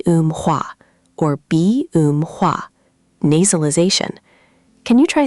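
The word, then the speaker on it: 비음화: B um hua. B um hua. Good effort. The middle part is a bit tricky. B um hua. The um part sounds like um in room.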